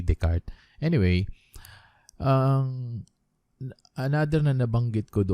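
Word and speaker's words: Descartes: r d e s it should be d e s c a r d e s something like that so but the pronunciation is correct renee the card anyway um another nana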